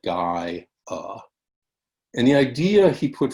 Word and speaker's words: Gaia: It was called Gaia, and you pronounce that Gaia.